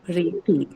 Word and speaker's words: priority: priority. So the O syllable, the second one is the one that is marked.